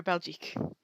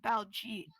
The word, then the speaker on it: Baljeet: You are Belgique. Magic. Wait, hold up, I pronounced his name wrong. Baljeet.